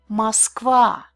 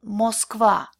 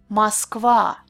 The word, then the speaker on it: Москва: See, when vowels are unstressed, they change a little bit.